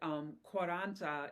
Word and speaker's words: Quaranta: And then I found out, but you found added to this that Quaranta is how you say it in Italian.